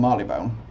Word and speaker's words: Marylebone: for it and that is London Marylebone I'm Marley bone no one actually knows how you pronounce that place to banbury that's the first